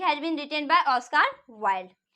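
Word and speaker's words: Wilde: बहुत बच्चे Oscar वाइल्ड को ऑस्कार विल्ड पढ़ते हैं, वो बिल्कुल गलत प्रोनाउंसिएशन करते हैं, क्योंकि आपको पता होगा कि ऑस्कार वाइल्ड होता है, ना कि विल्ड होता है।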